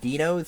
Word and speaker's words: Dinos: It is pronounced Dinos here, cause it's Mexican.